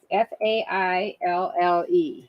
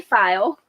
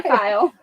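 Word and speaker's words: faille: of a file fabric it's got a crazy way you spell it f-a-i-l-l-e and we say file and you might say fail but we say file and then some people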